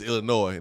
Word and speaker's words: Illinois: It is Illinois, not Illinois.